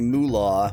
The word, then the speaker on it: Molah: Yahweasel: Apparently, mula, which is not spelled M-U-L-A, it's spelled M-O-L-A-H, but comes from Yava de las MULA,it'sspelledMOLAHbutcomesfromYavadelasMulawhichmeansgetoffyourmule Yahweasel: Ganai is puffing on a pipe.